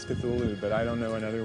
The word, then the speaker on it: Cthulhu: Uh and so finally in a letter of 1934, he tells a colleague, well, it's really meant to be two syllables.